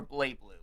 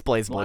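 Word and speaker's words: BlazBlue: Is it Blaze Blue or Blay Blue? It's Blaze Blue. Blaze- Okay, what? because in the trailers for like with all the English stuff, everybody pronounced it Blay Blue.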